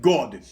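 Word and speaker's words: год: Now, if you the Russian word for year is pronounced God. So this is abbreviation for 1953 God, 1953 year.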